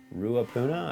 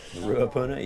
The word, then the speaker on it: Ruapuna: a New Zealand track believe it's pronounced ruapuna I think is that is that correct can you guys correct me on that that's how I'd say it ruapuna yes I've not actually